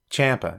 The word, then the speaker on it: Ciampa: Ciampa. It's Ciampa. It's Ciampa. I am bound and determined to pronounce this guy's name correctly. It's Tommaso Ciampa. That's it. If you say any other way, it's wrong.